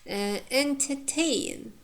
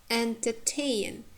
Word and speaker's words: entertain: You see, entertain, entertain. Here the second syllable is weak, and the last third syllable contains diphthong.